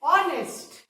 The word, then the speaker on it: honest: Then the next word is honest. Honest, honest. इसको हम honest नहीं बोलते, honest बोलते। Remember, इसमें H silent है।